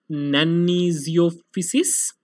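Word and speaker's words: Nannizziopsis: Lastly, there is a rare species of fungus generally found in reptiles whose name is pretty difficult, and it's pronounced as nanizophysis and parananizophysis.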